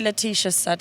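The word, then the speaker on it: Laetitia Sadier: a cup of coffee with um probably Leticia said yeah that's how you say her name Stereolab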